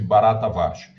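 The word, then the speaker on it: Bharatavarsha: Índia Então esse eh barata vcha pronuncia-se barata varsha esse barata varsha seria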